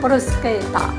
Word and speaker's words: bruschetta: Ça s'écrit bruschetta, mais ça se dit bruschetta.